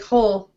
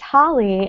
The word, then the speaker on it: Holly: super excited wait you I always thought you pronounced your last name like whole it's Hol it's it's Holly now I can sing